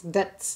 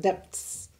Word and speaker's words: debts: By a subscriber telling me that you don't pronounce the B's in debts. So it's debts, not depths.